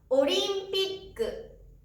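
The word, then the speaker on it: オリンピック: ジャンプする音があります。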